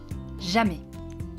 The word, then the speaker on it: jamais: Jamais. Jamais. Here again, the S is silent.